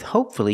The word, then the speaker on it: hopefully: Because with hopefully, you have one syllable before F-U-L-L-Y.